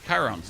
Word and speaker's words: Chiron: Chiron's, that's how you pronounce him.